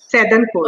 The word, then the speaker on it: Saidanpur: How do you pronounce that? Saidanpur. Okay, Saidanpur.